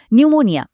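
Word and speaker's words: pneumonia: নিউমোনিয়া শুরুই হচ্ছে একটা সাইলেন্ট পি দিয়ে।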